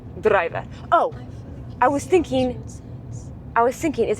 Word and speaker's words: druiwe: So we are in druive harvest. Driver. It kind of sounds like the English word driver, but they just roll their D. Druive.